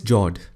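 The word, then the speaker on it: fjord: the next one is jord the f word is silent when you pronounce it these are a long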